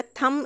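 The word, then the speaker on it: thumb: रहा होगा अब वहां पर सिख सकते हैं प्रोनाउंस नहीं किया जाएगा थंब इसको बोल रहे हैं आदत बताई जा रही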